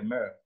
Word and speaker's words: mœurs: ce qui parle des mœurs. Bon, les Ivoiriens disent souvent les mœurs, mais le S qu'on a mis là, ça ne se prononce pas.